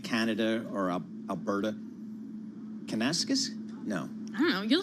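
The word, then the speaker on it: Kananaskis: David, what's a proper pronunciation there? Kenanasquez.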